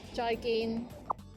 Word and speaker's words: 再見: Remember, both of the syllables, joy and gin, are both mid-flat tones. Joy gin.